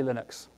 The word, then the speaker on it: Linux: Can I still buy Monte Vista Linux?